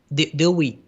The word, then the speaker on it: Dewey: And in fact, and in fact, in the 20 decade, 1920, how you pronounce this? Dewey.